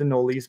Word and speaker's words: anoles: question and they're kalila the anoles in general probably more properly pronounced in no lease but I'll very rarely